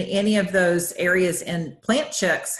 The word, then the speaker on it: Plant Chics: Instagram and Facebook, and it's Plant Chics, but it's spelled PLANTCHIC because people want to add the K and it's not.